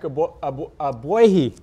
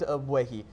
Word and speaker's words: Ogbuehi: Yeah, it's a weird name because it's a G, but it's silent. The Cowboys brought over Paul Alexander. Now, he's always liked Ogbuehi.